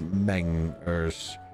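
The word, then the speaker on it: Mengers: I pronounced that right unless it's it's literally spelled out as m-e-n-g-e-r-s so I'm not sure if you were telling me to pronounce it like in French or if it's mangers ninjas I'm sorry if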